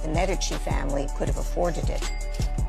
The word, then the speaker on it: Medici: No, it's not Medici. It's Medici.